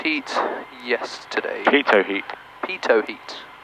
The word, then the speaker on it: pitot: Pitot heat. Remember? T is silent.